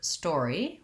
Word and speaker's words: story: at the word story we have first syllable stress and the store syllable is long and the e syllable is short the word story sounds just like the word store plus an e sound and it has the or diphthong so in this case the letters o r do say or if you find the